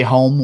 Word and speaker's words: Holm: pronounce the L right Sherlock Holmes that's how you that's how you pronounce it don't you dare question